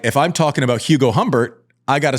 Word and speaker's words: Humbert: Anyways, Hugo Humbert, otherwise known as Hugo Humbert, because we don't pronounce H's.